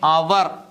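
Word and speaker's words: hour: എല്ലാ വാക്കുകളും എഴുതാം നോക്കിയേ അവർ ആയിലാണ് തുടങ്ങിയിരിക്കുന്നത് ആ എന്ന് പറയുന്ന മലയാള അക്ഷരത്തിൽ ആ എന്ന് പറയുന്നത് സ്വരാക്ഷരംആയതുകൊണ്ട് നമുക്ക് അവിടെ എന്ത് ചേർത്ത് പറയാം ആൻ അവർ കണ്ടല്ലേ മാറിപ്പോരുത് പരീക്ഷക്ക് ചോദിക്കുന്ന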